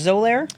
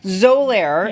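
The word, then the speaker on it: Xolair: ourselves for patients in the office and it's pronounced zir but it's XO x o l a i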